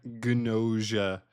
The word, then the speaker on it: Gnosia: But we got Gnosia. Yes, they pronounce the G.